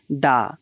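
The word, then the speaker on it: the: অ্যান হবে না, এটির উত্তর হবে অপশন বি, দা বা দি। এখানে দায়ের উচ্চারণটা দি হবে, কারণ ডিরেকশনের আগে সবসময় দা বসবে।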